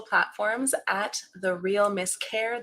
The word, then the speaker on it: Kerr: You can find me across all social platforms at The Real Miss Kerr. That's Kerr. And no, it is not pronounced Kerr.